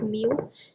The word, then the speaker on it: μ: सो the velocity of these कॉपरस्कल्स इन an isotropic medium that is same μ ये जो ये है ये u नहीं है इट इज़ प्रोनाउंस्ड एज μ इसका मतलब होता है रिफ्रैक्टिव इंडेक्स।